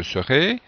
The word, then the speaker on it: serai: Ici, la prononciation doit être bien précise pour différencier je saurai du verbe savoir et je serai ou je serai simplement, si on parle vite, du verbe être.